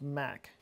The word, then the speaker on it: Mach: so good yeah except it's pronounced Mack Mack yeah like Mac's principle oh there you go